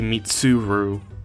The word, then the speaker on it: Mitsuru: say it too quickly I say mitsuru um I'll try to say mitsuru uh instead because that's more accurate to how the dub pronounces it yeah we have a